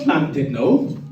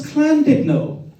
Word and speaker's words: Llandudno: His face was like thunder, and aggressively said, "It's not Llandudno, it's Llandudno. The double L is pronounced with a C."